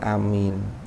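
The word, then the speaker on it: آمين: Jadi lafaz amin itu ada beberapa versi cara mengucapkan amin. Afsahuha utawi paling fasihnya lughat, yang paling masyhur, yang paling fasih iku amin. Iku amin bil maddi, kelawan mat, jadi a-nya dibaca mat, bukan amin tapi amin.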